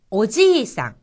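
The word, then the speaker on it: おじいさん: 거죠 오카상 어머니란 뜻이고요 오지상 오지상 여기서지 다음에이가 와서이 부분이 장음이 된 겁니다 오지상 할아버지란 뜻입니다 크기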